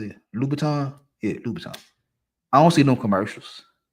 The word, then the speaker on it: Louboutin: Yeah, Louboutin.